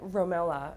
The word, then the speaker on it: RoMeLa: So at Romela, is that how you say it?